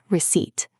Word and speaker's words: receipt: Receipt. Be careful with the spelling. It has a P. R E C E I P T. But the P is silent.